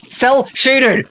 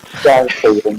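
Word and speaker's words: cel-shaded: Yeah, cell-shaded! Jesus Christ, Joe. Say it right. Shell-shading, that's what you keep saying. I keep saying shell-shaded.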